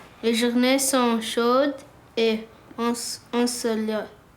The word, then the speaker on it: ensoleillé: Les journées sont chaudes et ensoleillées.